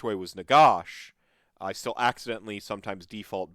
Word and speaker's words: Nagash: pan and they're like my the reason i pronounce negash uh as negas sometimes is because in a